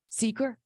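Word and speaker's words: SEQR: right um this and I'm not sure I'm going to say this right but the Sakura process we did ask so how do you say it Seeker okay um we did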